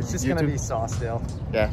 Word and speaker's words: Saucedale: It's just gonna be Sawstel. Yeah, Sawstel. Yeah. So you want to spell it out for them just in case?